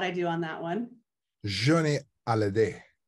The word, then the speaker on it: Johnny Hallyday: Johnny Hallyday. Johnny Hallyday. Accent on the day. Hallyday.